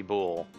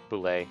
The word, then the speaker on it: Boule: sure uh or boule i'm not sure how you'd want to pronounce that i i've always liked boule because it's b-o-u-l-e uh i kind of thought i looked at it with kind of the like french type tr pronunciation so that's why i